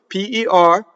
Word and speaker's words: per: P-E-R, per, right? So the vowel is A, not rhyming with the fruit, pear, or a pair of socks. Pay, like you're going to pay someone, right?